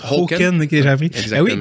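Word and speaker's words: Håkan: Qui se prononce Hoken.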